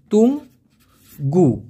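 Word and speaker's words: tunggu: সেই অপেক্ষা করাকে আবার বলা হয় তুঙ্গু। টি ইউ এন জি জি ইউ। উচ্চারণটা হবে তুং গু।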